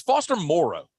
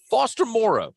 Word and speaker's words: Foster Moreau: Like, it is Foster Moreau. We've known him since he was in high school. Foster Moreau. We've got to stop with the Moreau. It's got to stop.